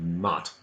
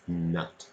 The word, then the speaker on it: nut: let yourself also just be careful that it's not mutt its nut and if you ask